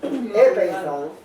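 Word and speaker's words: ἔπεισαν: Y ese esa palabra griega persuadit episan episan se pronuncia así.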